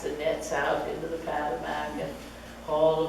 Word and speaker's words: Potomac: I don't know why our visitors pronounce the name of our river Potomac. It's Patamac, that's how we call it.